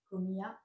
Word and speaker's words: comía: Comia, comias, comia, comiamos, comiais, comian. Très bien, avec l'accentuation sur la i.